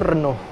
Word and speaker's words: Renault: Jadi, cara baca itu Renault, bukan Renault, guys. Kalau di sini kita banyak kan ngomongnya Renault atau Renault. Tapi yang benar sebenarnya adalah Renault.